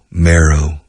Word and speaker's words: marrow: Pronunciado marrow. Como Mary, María, pero marrow.